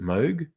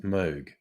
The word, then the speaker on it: Moog: the name looks like moog uh he actually pronounced it moog so a little bit of trivia um that uh the synth creator's name is actually pronounced moog so there you go um oh god people